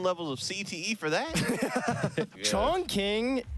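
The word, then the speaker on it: Chongqing: of CTE for that Chong King uh or pronounce Shong Shing um you will get corrected either way so just give up it's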